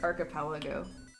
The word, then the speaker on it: archipelago: It's pronounced archipelago.